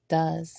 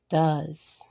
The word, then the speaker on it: does: are does and right the E here is silent because we don't not say a or E it's just does so the middle pronunciation here is just uh does this word is right